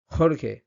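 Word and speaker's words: Jorge: এবার ক্যারিবিয়ান স্প্যানিশে যেমন Cuba deer বা ডমিনিকান রিপাবলিক ভেনেজুয়েলা এখানে কিন্তু এই যে জি লেটারটা এটা কিন্তু বাংলার হ প্লাস একটু বেশি ফোর্স হ যেমন হামন খরখে হতা এরকম মানে বাংলার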